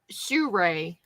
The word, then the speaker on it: Sura: It's pronounced Sure.